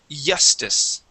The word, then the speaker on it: justice: similar uh because what you want to produce is a is a vibration here in your throat when you pronounce that J okay it's a j j sound and you you vibrate here in your throat the J is a voiced sound okay right now you're